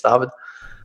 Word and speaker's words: David: originally from Germany and brings up course you pronounce my my first name German everybody says David you know yeah these days I'm back in Germany it's tavad I had a few businesses in in Germany